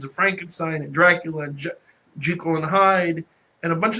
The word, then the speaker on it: Jekyll: Frankenstein and Dracula and Jekyll and Hyde and a bunch of the other Victorian stories. And by the way, for the record, it's Dr. Jekyll and Mr. Hyde, not Jekyll. It's a common mispronunciation.